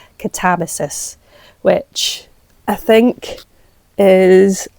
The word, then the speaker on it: Katabasis: Well, she wrote Katabasis. I need to remind myself how to say it. Well, she doesn't take umbrage on how people say it, but that's how she says Katabasis, which I think is